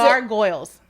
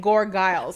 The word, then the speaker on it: gargoyles: So what is it? gargoyles. Oh, that's how you say it. Yeah, but you're saying gorgiles.